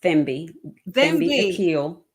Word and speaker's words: Thembi Aquil: evening with us thank you and it's it's pronounced themi ail I'm sorry a ail yes okay then be